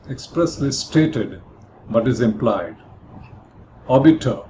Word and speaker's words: obiter: Obiter, here in terms of pronunciation, R is silent, here refers to something said in passing.